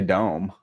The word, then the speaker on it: DOM: I'd probably say dome. Dome. Dome. I just dropped the E for just just this one special occasion. Dome. I'd spell it like, you know, it's spelled D O M, right? Yeah. Yeah. All right. Do I say Dom? I just sound stupid. No offense to people who say it like that. Just doesn't sound right to me.